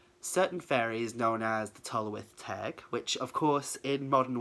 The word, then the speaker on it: Tylwyth Teg: So I thought I would kind of try and help with the pronunciation. Tylwyth Teg.